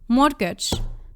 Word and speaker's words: mortgage: You don't you don't hear the T, but you also don't hear the mortgage.